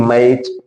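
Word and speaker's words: match: Yama A टी सी एच में देखो टी सी एच आया, टी का उच्चारण नहीं करेंगे, तो होगा क्या? यम ए सी एच, इसको कहेंगे मैच।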